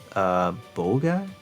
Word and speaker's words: Boga: Is it Boga? Yes, that's how you pronounce it.